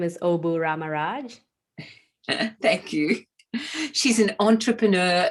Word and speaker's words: Obu Ramaraj: My name is Obu Ramaraj.